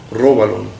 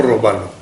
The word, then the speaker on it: róbalo: Así se pronuncia, ¿no? Róbalo, no robalo. Róbalo, creo. Sí.